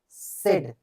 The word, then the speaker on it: said: Be taken by the finance department, the planning minister सेड, देखिए सेड है, इसे सैड नहीं करेंगे, देखो SAID ये है सैड, और SAID ये है सेड।